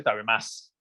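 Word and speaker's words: 食べます: Perdón, tabemasu. Lo que pasa es que se pronuncia normalmente tabemas.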